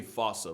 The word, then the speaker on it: fossa: name to lemurs everywhere the fusa although with its spelling I'm pretty sure it's actually fossa but the day I pronounce it like that is the day I lay my childhood to rest the Foos